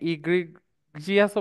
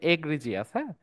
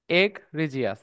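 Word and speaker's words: egregious: ওকে স আমাদের নেক্সট ওয়ার্ডটা হচ্ছে এটাকে অনেকে ইগ্রিজিয়াসও বলে বাট এটা উচ্চারণ হচ্ছে এগিরিজিয়াস এগিরিজিয়াস।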